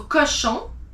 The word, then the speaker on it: cochon: Then you have cochon. CO is co. CH is sh. ON is on. So cochon.